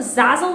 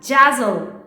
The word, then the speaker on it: Zazzle: Like, they watch the entire videos and comment on my videos like, you said the Zazzle at Jazzle, Jazzle, instead of Zazzle.